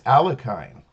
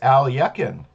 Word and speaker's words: Alekhine: for a couple decades or so, I was pronouncing it as it would be read. Maybe if you're reading a book in English, and that I was mispronouncing it as Alekhine, but it is Alekhine.